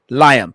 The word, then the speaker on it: Lyam: Liam.